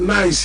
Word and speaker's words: Nice: We call it Nice here, but they said it's Nice there in France.